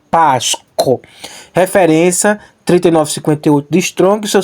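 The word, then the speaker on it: πάσχω: era esse aqui ó pásco ou pas c b tônica é a primeira ó pas isso aqui é um R tanto posso pronunciar como ro beng cultural como ch co pasco referência 3958 de strong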